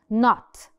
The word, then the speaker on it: knot: كل دول silent K's. كل دول different vocabulary. لما ال K بتيجي وراها ال N على طول, we do not mention or pronounce the K.